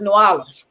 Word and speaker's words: New Orleans: But some people in New Orleans. No, it's New Orleans.